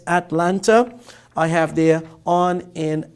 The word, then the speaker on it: Atlanta: And at, as in Atlanta, or as some Americans say, Atlanta, but here it's Atlanta.